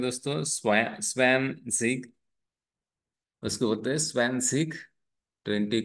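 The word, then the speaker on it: zwanzig: स्वान कहते हैं दोस्तों स्न सिक उसको बोलते स्वन सिक 20 को स्वन सिक बोलते दोस्तों तो हमने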